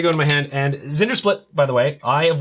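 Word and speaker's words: Zndrsplt: are you supposed to pronounce that so there's zinger slit Thank You Jay okay so this is gonna go to my hand and Zinder split by the way I of wisdom is a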